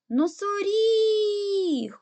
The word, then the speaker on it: носоріг: складів наголошений гукаємо слово носоріг куди падає наголос на і тобто третій склад буде наголошений тепер дітки робимо звуковий